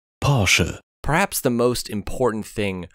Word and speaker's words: Porsche: time they decided to show us how to pronounce their name correctly pora perhaps the most important thing Porche ever did